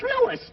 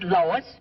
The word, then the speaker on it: Louis: the plant Lois Lois me name is leis not Lois J W everybody interpolates me name wrong it's Lois l o u i s Lois uh uh